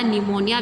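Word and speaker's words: pneumoniae: यहाँ पर पी क्या होता है? साइलेंट है, ठीक है। इसके स्टार्टिंग में क्या रहता है? पी रहता है, लेकिन पढ़ने के लिए इसको न्यूमोनी पढ़ा जाता है।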